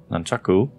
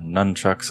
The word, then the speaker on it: nunchaku: I know they added that with the latest update, the nunchaku, or nunchucks as I guess they're commonly mispronounced.